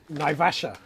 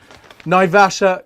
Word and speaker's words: Naivasha: be going through coffee and how do i pronounce it again naivasha naivasha coffee right so check this out like guys